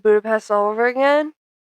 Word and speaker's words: Budapest: She said she says peshed. Yeah. And Clint says pest.